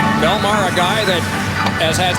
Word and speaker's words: Bellemare: There is a suburb in southern New Jersey, spelled a little differently, but pronounced the same way.